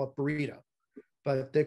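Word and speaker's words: Baryta: And the correct pronunciation is in fact Bareida. Now, some people will call it Bareida. Some people call it Bareida. Some people call it Barda. I've even heard Bareita.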